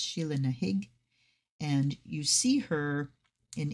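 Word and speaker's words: Sheela na gig: Sheila Nahig. Well done. So yes, it's spelled Sheila Nagig, but I have read that it is pronounced Sheila Nahig.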